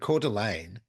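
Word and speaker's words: Coeur d'Alene: house about 15 kilm outside the town of cordelan in Idaho and cordelan is like the French version c u r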